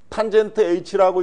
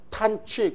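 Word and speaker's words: tanh: 얘 읽을 때 탄젠트 h라고 읽지 마시고요. 하이퍼볼릭 탄젠트 또는 탄취 그냥 이 발음 나는 대로 이렇게 읽어야지 됩니다. 하이퍼볼릭 탄젠트 또는 탄취 탄젠트 h 그러면 미국 애들이 탄젠트 H라고 이렇게 이해를 한다.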